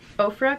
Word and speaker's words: Ofra: So I want to start with Ofra Cosmetics. I believe that is how you say it.